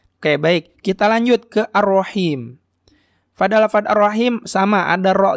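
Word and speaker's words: الرحيم: juga sudah kita bahas cara pengucapan khas Seperti apa tadi benar-benar lembut dan sesuai dengan suara nafas ya ar-rohim ar-rohim bukan ar-rohim nah itu batia besar jangan ketuker udah ar-rohim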